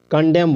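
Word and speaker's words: condemn: कॉलमन नहीं बोलना है कॉलम कॉलम यानी खंबा कंडेम बोलेंगे जिसका निंदा करना होता है मतलब कंडेम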